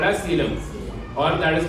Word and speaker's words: coelom: Now we go to the next category, that is called as coelom. Can we pronounce this?